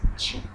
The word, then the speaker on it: Kyi: It's spelled as K-Y-I, but it is pronounced as Chi.